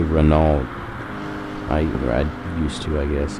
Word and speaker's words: Renault: I say Renault. I used to, I guess. I know it's Renault, but it just looks like it's spelled Renault.